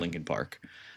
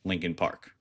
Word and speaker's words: Linkin Park: Um, so that they could own the website Lincoln Park, right? So that's why they their name is not spelled, you know, how Lincoln should be spelled pronounced.